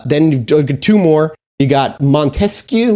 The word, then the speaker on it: Montesquieu: two more you got Montesquieu which I think is how you say it Montesquieu yeah Montesquieu was a